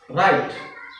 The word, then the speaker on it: right: as bright next ritsp GH ght then G will be silent and the pronunciation will be right k i k n